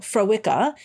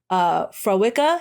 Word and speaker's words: Fréwaka: is, first of all, they named it Fréwaka the way it's spelt. They spelt it phonetically so that people, they said, like, we're trying to be nice. We didn't want people, because how it's spelt, Fréwaka, how it is spelt is Freamhacha. And she was like, nobody was going to be able to say this.